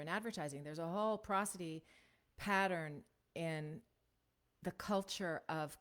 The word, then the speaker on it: prosody: I like prosody because it sounds like prose, sounds like poetry and prose, but it's pronounced prosody.